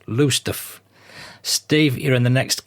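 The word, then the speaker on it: Lowestoft: narrated and that's Steve 1955 from kessingland in low stof suffk England thanks Steve I'll volunteer that I do know LOF is actually pronounced lusta Steve you're in the next count to me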